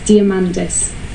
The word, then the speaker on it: Diamandis: as a heel um how is my surname pronounced by elliot kane it's diamandis for the amante in greek um there was